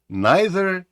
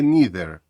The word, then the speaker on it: neither: їх вимовляти ці слова neither чи neither either чи either до речі як правило у Британській англійській ці слова вимовляються neither і eitherh у американській англійській дуже